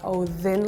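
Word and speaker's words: Óðinn: each of you like for me we don't spell it with a d we spell it with a the which is a special Icelandic character that is like it looks like a d but it has like a line on the top and the pronunciation is like v v so it becomes like a oin like a little bit more smoother feel like yeah because Norway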